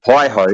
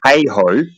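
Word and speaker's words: HAHO: saying you're saying and you mispronounced it by the way you said hi ho is heho high altitude high opening jump and you cannot according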